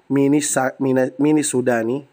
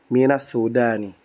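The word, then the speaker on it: مِنَ السُّودَانِ: Gak mungkin mini Sudani, gak mungkin. Tapi dia dicocokkan dengan harokat lil munasabah ya. Minas Sudani. Minas Sudani. Cara baca minas Sudani. Bukan mini Sudani.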